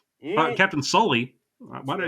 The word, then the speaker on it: Sully: And Tom Hanks reprising his role as Captain Scully, Mm, Captain Sully.